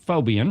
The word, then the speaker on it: Faubion: And we're joined by David Phobian.